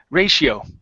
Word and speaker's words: ratio: uh next up is ratio So This Ti becomes a she okay so ra ratio ratio ratio good good let's go